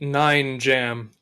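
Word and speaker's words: Nine Jamb: And because you will not trick me into using my true name, you may call me Nine Jam. The B is silent in jam.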